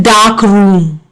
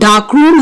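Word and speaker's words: darkroom: So, in the noun phrase, dark room, both the dark and room are stressed, but the compound dark room has only one stress on the first syllable, that is dark.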